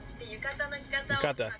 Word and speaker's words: yukata: Yukata? I'm helping you learn how to say it right. Yukata.